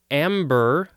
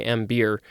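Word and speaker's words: ambeer: wife of an ambassador next we have amber i think that's how it's pronounced i wanted to say m beer because it's spelled a-m-b-e-e-r this is a noun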